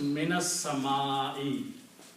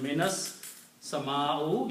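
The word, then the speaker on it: مِنَ السَّمَاءِ: So it becomes minas sama'i. Instead of minas sama'u, you will pronounce it minas sama'i.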